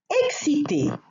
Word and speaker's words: excité: Excité does not change in its pronunciation whether the subject is masculine or feminine. But when we write as a masculine or feminine subject or about a masculine or feminine subject, then we must add an E, which is the one that I annotated here in parentheses, if the subject is feminine.